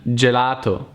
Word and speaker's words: gelato: here will be good G Plus E and I is soft like in gelato ice cream gelato the English equivalent here will be jar but again in eng